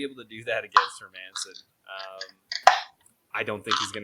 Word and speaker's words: Hermansson: Hermansson? Yeah, Hermansson. He's like, he's not Herman's son. He's Michael Jordan's son, actually. It's the Airman.